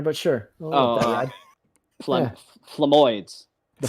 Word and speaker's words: Flemoids: Flemuloids. Yeah. Well, you threw an extra couple of syllables in there, but sure. Flemoids. The Flemoids.